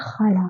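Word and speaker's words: ख़ाला: ये शब्द पढ़िए आप, तो ये लिखा है खाला, लेकिन ये सही उच्चारण नहीं है क्योंकि खाला नहीं होता, इसके नीचे बिंदी लगी होती है और हमें पढ़ना होता है खाला।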